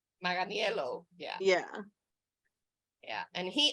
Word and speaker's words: Manganiello: Manganiello. Manganiello, yeah.